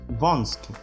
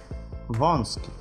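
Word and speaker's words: wąski: Может читаться как он, ом, оу. Например, идол, идут, идол. Узкий, вонский, вонский.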